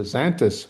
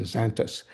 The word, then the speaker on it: Xantus: A second species, Mexican species, is the Xanthus hummingbird. That's spelled Xantus, Xanthus.